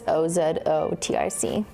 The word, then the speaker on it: OZOTIC: It's OZOTIC. I'll show you again on the darker one. Just the logo is doing something weird on top of the I, but it's OZOTIC. Not Ozempic.